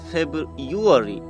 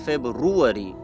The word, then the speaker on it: February: So the correct pronunciation of this word is February, not February. Okay, Ruary, not Uary, February.